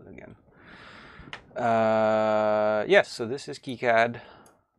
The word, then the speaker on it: KiCad: which I learned by the way it is pronounced kicad by the by they're the engineers that work